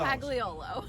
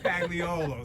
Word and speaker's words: Pagliolo: Did I pronounce that correctly? Close. It's Close. Pagliolo. Pagliolo.